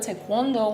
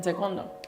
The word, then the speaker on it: Taekwondo: I started with Taekwondo when I was 2 years old.